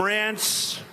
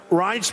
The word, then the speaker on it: Reince: And I said before, nobody knew how to pronounce his name. It's a crazy name. They call him Rance. Steve Wynn just called him. He's still not pronouncing it right, Steve. But Reince Priebus, now everybody pronounces his name right.